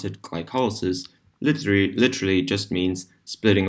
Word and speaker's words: glycolysis: the higher processed glycol lysis or as we pronounce it glycolysis literally literally just means splitting apart sugar our